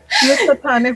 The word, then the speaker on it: Housatonic: Who's a tonic? Housatonic River. Yeah, Housatonic River. Yes, but yeah, it's hard to pronounce. So let's just say this.